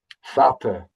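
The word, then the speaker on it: fada: Fata, Fata. Look, it's pronounced much how it's spelt, except rather than a D, it's a big fat T. Fata. Put your tongue behind your teeth.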